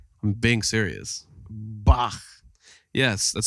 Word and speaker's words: Bach: I play Bach.